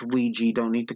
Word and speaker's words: Ouija: played with an older board I know it's pronounced Ouija don't need to correct me comments I just